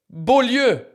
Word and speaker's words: Beaulieu: Look, Beaulieu. I was so astonished. Oh, Bewley.